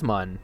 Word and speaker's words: Mun: It is mun. They've come out and said as much. It rhymes with bun.